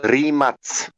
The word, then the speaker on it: Rimac: It's called Rimac. R-I-M-A-C. Airmac? R-I-M-A-C. Like Rimac, yeah. Airmac. Air-I-Mac. Yeah. R-I-Mac. Air. It's pronouncing Rimac, but yeah, in my language.